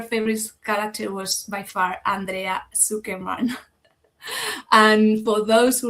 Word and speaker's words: Andrea: Well, as you know, my name is Andrea. That is how you pronounce in Spanish.